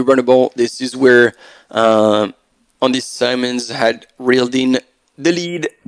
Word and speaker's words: Simons: and Andy Simmons together, or Simons, because we had a conversation as well. Since this is SY, it might very well be Andy Simons, and I was been saying it wrong for a long time.